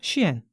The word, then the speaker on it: SHEIN: 곳이 의류 쇼핑 플랫폼 쉬엔 CN 어 스펠링은 s i 근데 그걸 시이라 읽어 쉬엔 같기도 하고 쉐인 같기도 하고 중구난방인데 일반적으로는 쉬엔이라고 부르더라고요 아 그러면 이거는 중국